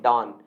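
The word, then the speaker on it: don't: और मैंने कई बार आपको कहा है कि इसे आप डोंट ना पढ़ के इसे आप क्या पढ़ें दोस्तों, इसे आप पढ़ें डॉन। है ना, प्रोनाउंसिएशन में आसानी होगी। अगर इसे आप क्या पढ़ेंगे दोस्तों, डॉन पढ़ेंगे, डॉन डू इट।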